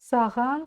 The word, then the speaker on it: саған: Саған сары қарындаш неге керек? Разбираем. Слово саған будет звучать по аналогии со словом маған. Маған. А его мы вот здесь научились произносить. Вот маған. Маған, саған.